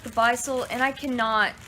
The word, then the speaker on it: Beistle: Beistle is how you say it.